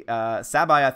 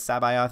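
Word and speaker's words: C'baoth: I always mispronounce the name, but Sabayoth is, I believe, the correct pronunciation, at least according to the audiobook that I'm reading.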